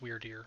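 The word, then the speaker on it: Wyrdeer: dear's favor or no weird weird deer i think it's pronounced weird here i might be wrong good to finally meet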